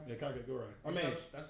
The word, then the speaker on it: Kakegurui: Kakegurui. You I was about to say, Yu-Gi-Oh! to it. Why not? would you consider that anime? Cat or did I pronounce it right? You say Kakegurui? Yeah, Kakegurui.